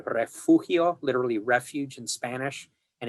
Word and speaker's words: Refugio: There is a town near the Gulf Coast called Refugio, literally refuge in Spanish. And if you go there, the locals will refer to it as Refugio. Okay, that's how they pronounce it.